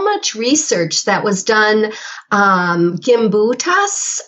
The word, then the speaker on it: Gimbutas: Gimbutas, I think is how we say her name.